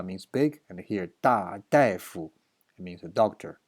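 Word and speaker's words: 大夫: And 同事说大夫怎么说的？This is not 大 anymore. This is 大夫。 This thing has two pronunciation. A is 大 means big, and here 大夫 it means a doctor.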